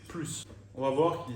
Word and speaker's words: plus: pas le S déjà quand la phrase est négative dans la plupart des cas on ne va pas prononcer le S à la fin il n'a plus de place dans son